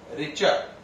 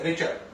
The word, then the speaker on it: Richter: Spelling बोलो रिचर की एक बार और। RICHTER। इसे पढ़ेंगे क्या? रिचर। क्या पढ़ेंगे इसे? रिचर।